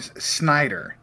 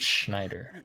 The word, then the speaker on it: Schneider: Rob Snyder.